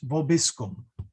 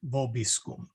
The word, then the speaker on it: vobiscum: hear the words Dominus vobiscum. The O is actually short, okay? What you will often hear, though, is Dominus vobiscum. And the reason for that is the accent is on this O.